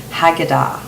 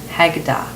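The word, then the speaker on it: Haggadah: reptilian but there's an old book called The hagada now I uh I'm going to spell that for you h a g g a d a h hagada now in this ancient document it says that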